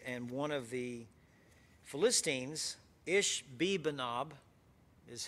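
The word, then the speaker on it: Ishbibenob: he was weary and one of the philistines ish bibanob is how you pronounce that one ish bibanob and what it means is the inhabitants the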